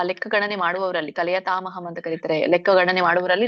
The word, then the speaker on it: ಕಲಯತಾಮಹಂ: ಕಲಯತಾಮಹಂ ನಲ್ಲಿ 2 ಪದ ಇದೆ. ಕಲಯತಾಂ ಅಹಂ ಅಂತ ಕೂಡಿ ಹೇಳಿ.